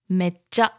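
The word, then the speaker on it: めっちゃ: Mecha. Mecha. Mecha hisashiburi yang. Hisashiburi yang. So the mecha goes up like mecha, mecha.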